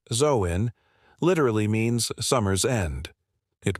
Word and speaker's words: Samhain: Samhain, pronounced Zoin, literally means summer's end.